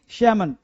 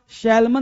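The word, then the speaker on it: salmon: क्या बोलते हैं जी, सैमन। सैमन बोलते हैं बेटा, सैल्मन नहीं बोलते, सैमन।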